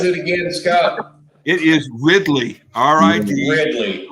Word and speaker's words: Ridley: It is Ridley. R-I-D. Ridley. Y. Yeah. So if Jeff pronounces it because he always adds ER at the end of every word, it'd be Riddler. Yeah.